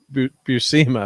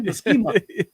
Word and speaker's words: Buscema: a guy I worked with a lot, John Buscema, man, I just love him. Yep, and I was in the chat, I've been saying his name wrong forever. Buscema, I was saying, so it's Buscema.